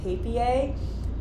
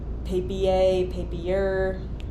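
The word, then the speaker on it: Papier: which are both from paper I think that's how you pronounce it it's p-a-p-i-e-r and I believe it's a German word paper they make these really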